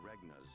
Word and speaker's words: Regnar: Prince Roland, King Regnar's younger son. Regna! Okay. That's how you say it.